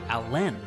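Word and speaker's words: Alan: Chester Allen Arthur chose to pronounce his middle name with the emphasis on the second syllable. So he was actually Chester Alen Arthur.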